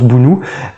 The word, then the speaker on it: Bounou: à Boulou au Bono je sais jamais comment on dit ça s'écrit Bono mais beaucoup le prononces Bounou et il trempent donc